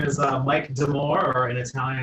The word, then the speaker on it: D'Amore: My name is Mike D'Amore, or in Italian it's pronounced D'Amore.